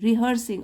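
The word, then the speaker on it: rehearsing: रिहर्स अभ्यास करना देखिए रिहर्स बोलते हैं लेकिन स्पेलिंग देख लीजिए री आर ई एच ई ए आर एस आई एन जी रिहर्सिंग अभ्यास कर रही है हर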